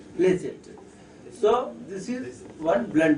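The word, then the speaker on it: pledget: or momentum or what p l e d g e t d d is silent pleas so this is one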